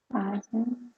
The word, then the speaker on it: ASEAN: I don't know how to pronounce that either. ASEAN.